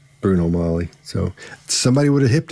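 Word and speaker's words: Bruno Magli: and a halfs um he knows it's not pronounced Bruno magley it's not pronounced that and in the circles he ran in somebody would have said dude don't don't don't say magley it's it's it's Bruno Molly so somebody would have hipped him to that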